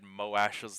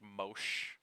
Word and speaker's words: Moash: Uh, mm, actually, I I may have internally read Moash's name as like Mosh. Like like if I'd like gone to sound out each individual syllable, it was like Mo Ash.